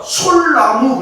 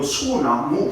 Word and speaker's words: 소나무: 소나무를 우리가 솔나무 그래요? 아니잖아요. 니을이 있고 니은이 있으니까 니을을 빼버리고 소나무 그러는 거예요.